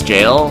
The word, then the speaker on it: gaol: selling it scaler with an archaic spelling for jail miss can only know let's pronounce jail via gaol because of a final